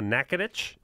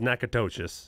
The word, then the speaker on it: Natchitoches: Louisiana went down a Natchitoches which is spelled Kudo and a co Dec 8 yes I always pronounces neck a ptosis yeah the oldest oldest